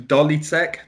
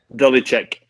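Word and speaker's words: Ďolíček: their stadium the the dolly sec dolly sec dolly check so the c the c with like the the hook on the top it's pronounced like like ch like sure which is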